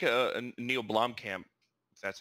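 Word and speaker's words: Blomkamp: and it would what i like a neil blom camp that's how you say his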